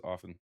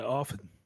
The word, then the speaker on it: often: The T in often is silent. I heard you. I heard you pronounce it. Every Well, it's because I chose to, but everybody just says often. No. Oh, yeah. Often.